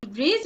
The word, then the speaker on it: bridge: So D is silent in the word bridge also my dear dear students.